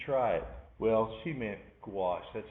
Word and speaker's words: gouache: She said, I'm using Gucci. And she said, oh, I've never heard of that. She said, yes, you should try it. Well, she meant gouache.